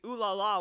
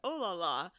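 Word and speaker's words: oh là là: I think it's because I studied French, but people will like read ooh la la when it's oh la la, and it drives me Oh.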